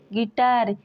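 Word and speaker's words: guitar: word नहीं पढ़ते हैं वैसे ही गेस्ट गेस गिल्ट गिटार इन सारे वर्ड्स में जी के बाद यू है और यू के बाद कोई बबल्स आया है इन सारे वर्ड्स में यू साइलेंट है गाइस अगर वीडियो अच्छा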